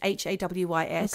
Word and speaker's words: Hawes: Hawes, I don't know how you pronounce it. It's Haways. Okay. Haywis Roberts.